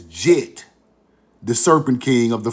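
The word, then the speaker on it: Djet: Egyptologist pronounced his name as Jet.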